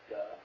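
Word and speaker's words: 德: I also think when you're in this state, you get this power that unfortunately in modern Mandarin is pronounced duh. I know, I loved reading that duh.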